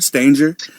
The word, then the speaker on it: Stanger: how you said Stanger Stanger it rhymes with Hangar Stanger L Stanger all right